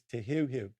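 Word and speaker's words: Te Heuheu: often hear people mispronouncing however it is correctly pronounced as te here let's look at the next one e let's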